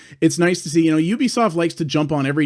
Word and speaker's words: Ubisoft: know how to pronounce Ubisoft? It's Ubisoft, not Ubisoft. Their name is a combination of the words ubiquitous and software.